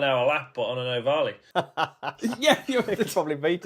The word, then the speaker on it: Ohvale: Yeah, well, it's Italian, so you have to pronounce it properly. Like this. Yeah, with your hands. It's Ohvale.